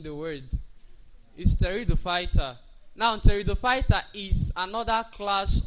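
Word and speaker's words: Pteridophyta: Now having mentioned that we advance to this teridopighter this P is not pronounced while pronouncing the word is territoid fighter.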